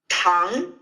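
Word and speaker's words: 汤: it's very good and in the second tone Tong repeat Tong okay so remember to push the air through and to really do this Rising intonation tongue Tong okay and Tong means sugar okay so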